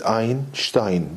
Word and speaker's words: Einstein: I I believe that the connect the correct pronunciation is Einstein because a German name so anyway this Bose